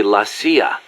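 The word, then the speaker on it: la CIA: So the story goes around here they say Lassia instead of CIA. Huh? Um nothing strange about it. That's how it's pronounced when you read it in Spanish.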